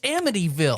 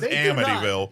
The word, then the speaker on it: Amityville: I say it right I don't even know if it's Amityville Amityville Hold On Christ heard people say Amityville I've always heard as amville nobody says amville nobody says that Jesus Christ all right thank